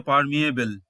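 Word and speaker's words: permeable: কিছু এক্সেপশন থাকতে পারে এখানে ই এর উচ্চারণ হচ্ছে ইয়ে তো এটি হচ্ছে পারমিয়েবল মানে হচ্ছে ভেদ করতে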